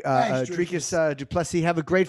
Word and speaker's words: Dricus: Dricus. Am I saying it right? It is probably pronounced Dricus. Okay, Dricus.